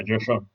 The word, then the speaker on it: Joe Schoen: So that's why GMs like Joe Schoen, that's how you pronounce it? yeah, Joe Sean.